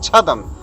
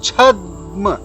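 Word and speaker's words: छद्म: It is not chadam. In chadam, da is a whole consonant, but when we put a sign of halant underneath the letter the, it becomes chadm. So da is pronounced halfway, chadm.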